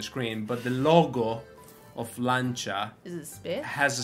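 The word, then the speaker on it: Lancia: the chat thank you lancha is how you say lancha most people say lania yeah no such thing as l the proper word is lancha why is that lancha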